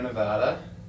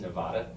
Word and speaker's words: Nevada: I grew up in Reno, Nevada, and Did you know it's not pronounced Nevada?